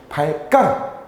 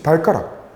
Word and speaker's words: 발가락: 그래서 이때 발가락은 지금 현대국어에서 어떻게 발가락, 우리가 이거를 발음을 해주면은 된소리되기가 일어나지. 이제 발가락 발음을 하면 된소리되기가 일어난단 말이야.